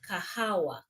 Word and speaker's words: kahawa: Coffee is called kahawa.